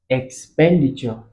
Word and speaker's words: expenditure: It's expenditure. Expenditure. Expenditure. So the stress is here. Expenditure or expenditure. You can see that the pen is long.